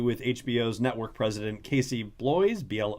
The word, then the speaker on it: Bloys: was an interview with HBO's network president Casey boys BL o YS so here we go with pronunciation on the show saying that the reason